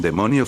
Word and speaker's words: daemon: En religión, ocultismo y folclore, un demonio o daemon, demon que se pronuncia demon.